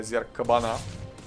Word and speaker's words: Зерг-кабана: Неприятная немного ситуация для Зерг-кабана, прямо скажем. Или для Зерг-кабана, если уж нормальное ударение ставить.